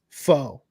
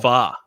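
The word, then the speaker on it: Phở: thing is like pronouncing uh Foe and yeah it's foe no it's fa fa it's fa oh yeah there's a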